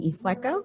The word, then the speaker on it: Ifueko: am here with jordan e flecko rhymes with gecko for the ray bearer